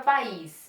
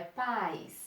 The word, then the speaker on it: país: No caso da palavra país, ó, não é paz. Ah, cuidado com o som. Paz de tongo, lembram? País, país, forte, forte é hiato. Sílaba mais forte.